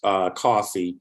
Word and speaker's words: Causey: Biscoe, and the Causey, which is Causey or Causine, but pronounced Causey, and the Tennyson families were the huge Catholic families on the southern end of St.